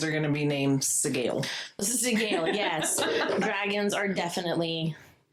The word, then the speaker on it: Sgaeyl: So, like, the ending is more like a gale, but that SG. Segale? It could be scale or scale. Scale. No, Segale. Segale. Like Miguel? Segale. So it's really, the emphasis is on the first few letters, the SGA.